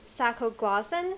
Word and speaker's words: Sacoglossan: So, okay, let me pronounce it correctly. It's Sacoglossan sea slug.